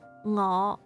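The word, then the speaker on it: 我: Okay, so you remember ngõ. This is actually the 5th sound, the 5th sound. Or tone, the 5th tone.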